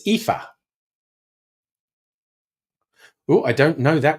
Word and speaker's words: Aoife: Okay, so this first one that looks like Alice is actually pronounced Ailish. And that one, how the fuck would you guess that? But it's Aoife.